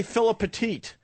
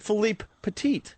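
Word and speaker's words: Philippe Petit: he he he corrected me most people say Philip petite so I purposely was trying to say his name right so I said Philipe petite and what what did he say when he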